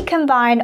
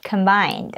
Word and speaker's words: combine: However, you have to pronounce this word combine, which means a threshing machine. Look like this. It's the farming machine that cuts the plants, separates the seeds from the stem, and cleans the grains. Again, it is pronounced as combine.